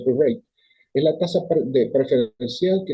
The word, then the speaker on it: prime rate: Se pronuncia prime rate, es la tasa preferencial